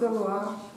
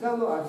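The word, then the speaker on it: Galois: Це означає філд, а це галуа філд. Еверіст Галуа. Це читається як уа у французькій мові.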